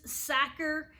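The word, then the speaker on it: Sachar: book copyright 1987 Lewis sacker if you ever have a hard time remembering how to say his name it rhymes with cracker so Lewis Sakura he also another book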